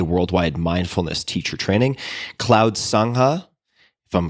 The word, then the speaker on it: Sangha: Some of your current projects include MMTCP, a worldwide mindfulness teacher training, Cloud Sangha, if I'm pronouncing that correctly.